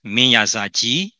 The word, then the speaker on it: Minyazaji: First of all, I would like to say that King Manrajagri in Arakanese is pronounced as Minyazaji in Burmese.